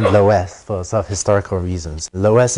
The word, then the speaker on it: loess: Which also goes by the name Loess for some historical reasons. Loess is usually spelled L-O-E-S-S, sometimes spelled like that too.